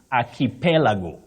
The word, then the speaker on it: archipelago: say midst midst and archipelago archipelago don't say archipelago archipelago and Theodore Theodore not Theodore